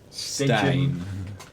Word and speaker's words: Stein: Because technically the name Stin, it's a name that I use because English people don't know how to pronounce. It is a name I have. Yeah, it's a name that most people call me because I speak English a lot, and my name my name is this Stein.